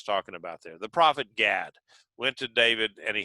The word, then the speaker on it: Gad: gad it's it's uh i say gad because if you were to say the the in the pronunciation of it it was god g-a-d uh and so i would have to distinguish god from uh god duh so that you would